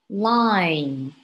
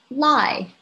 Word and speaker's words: line: nasal sound in words for example this word line line don't pronounce it as lie because without this m sound you would sound